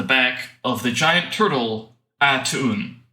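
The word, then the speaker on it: A'Tuin: of the giant turtle attune I think that's how it's pronounced I think that's correct it is you left out a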